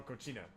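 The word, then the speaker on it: coxinha: X is pronounced. Oh, cochina. Okay. For some reason, I thought the X was gonna be pronounced as an H for some reason.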